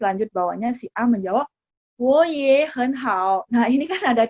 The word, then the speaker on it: 我也很好: Wo-nya jadi nada 2, ye-nya jadi nada 2, hen-nya jadi nada 2. Tinggal hao yang nada 3 ya. Cara baca ya, cara baca. Jadi, wo ye hen hao.